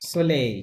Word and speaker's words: soleil: দো, do, okay, soleil, সোলেই, কি হবে, বকু দো soleil, সোলেই, ওকে, soleil, সোলেই, এখানে এলটা সাইলেন্ট থাকবে, বকু দো সোলেই, ওকে,